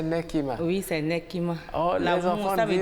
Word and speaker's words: Nekima: prénom nekima nekima donc la prononciation c'est nekima oui c'est nekimaour ça